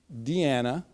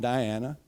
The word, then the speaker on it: Deanna: Duran yep and that's Deana not Diana as we learn as I've learned that's the way we pronounce it from Columbia so Deanna